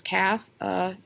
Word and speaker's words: cafeteria: So let's look at how many syllables it has. Cafeteria. 5 syllables. Cafeteria. I went to the cafeteria. So we stress that one.